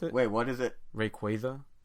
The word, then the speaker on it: Rayquaza: Rayquaza, like a quasar, because of space and the what?